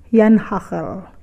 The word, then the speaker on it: janhagel: suka menyebutnya bodri anheul tulisannya memang janhagel tapi dalam lafal Belanda itu bacanya Yan hacker huruf j Anda dibaca y sedangkan huruf g dibaca Hei ini kue warisan zaman